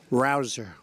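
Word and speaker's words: Rouzer: nice David Rosa hey you know how you pronounce it rabble rouser you go David rouser where's David is he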